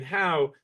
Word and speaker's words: Howe: Monte is the EDC Director and the City Administrator for the city of Howe, Texas. It's Howe. Nobody in Texas knows how to spell it except the locals.